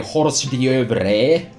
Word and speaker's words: hors d'oeuvres: last cause this is as they say a hors d'oeuvres that is definitely how you say it and